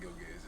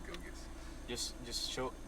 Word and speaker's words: Gilgeous: It's not Gilgeous, it's Gilgis.